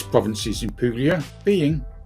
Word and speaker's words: Puglia: Puglia is pronounced by Italians as Puglia, whilst its English spoken name is often referred to as Apulia.